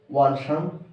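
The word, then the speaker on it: 晚上: Wan Shang Hao. Wan. It pronounced like one. Wan. Wan. Shang. Wan. Shang. Shang is neutral tone.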